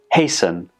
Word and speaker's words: hasten: have fasten fasten hasten hasten and christen there is no touch sound in any of these words when we pronounce them the T in the spelling is completely silent so the general rule